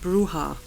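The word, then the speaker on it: Brujah: Okay, so apparently it's pronounced Bruja.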